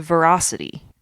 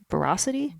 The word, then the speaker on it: veracity: It's a verocity. Is that a right the right way to say that? Veracity.